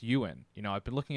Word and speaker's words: Ewan: fantastic so i am excited so it's actually pronounced you in you know i've been looking up some pronunciation just to make sure we uh you know i've always heard ewing and you win and wooing all right i thought it was